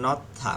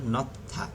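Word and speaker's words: 놓다: তারপর নথা মানে রাখা, নিচে হিউতে থ হালকা উচ্চারণ হবে, নথা, নথা রাখা, নথা রাখা।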